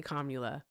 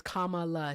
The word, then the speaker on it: Kamala: what communism is, then you don't get to say Kamula. Okay. Kam. That's That's her name. No, it's not. Her name is Kamala. She told us how to pronounce it.